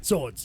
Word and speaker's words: swords: Swords, yes. Swords. I pronounced the W there. I shouldn't have.